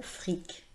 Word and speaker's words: fric: Je note le mot fric.